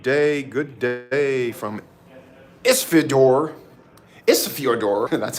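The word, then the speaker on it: Ísafjörður: side here good day good day from Isidor isor that's how you say it Isa Iceland and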